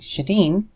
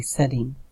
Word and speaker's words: Sadine: So if you have somebody like Shadeen, I think it's Sadine. I always want to call her Shadeen. I've known her for years. But when you're IMing people, you don't pronounce their name. So whenever I see her name written, I always think Shadeen, but it's actually Sadine, if I remember right.